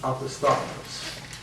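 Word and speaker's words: opisthotonus: Opisthotonous, pronounced opisthotonous.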